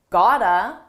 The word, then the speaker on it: gotta: one I said you gotta kick it up a notch first notice how I used gotta this is a reduction It's a combination of the words got two and it's pronounced as one gotta you gotta you can